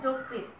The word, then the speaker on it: যকৃৎ: উদাহরণ দেখো, যকৃৎ, অন্তস্থ জ এর সাথে ও আছে, অবশ্যই আছে, উচ্চারণ করছি যকৃৎ, জ ও পেয়েছি, ও এর পর একটা রিকার পেয়েছি, অবশ্যই এটা সংবৃত রূপে উচ্চারিত হবে।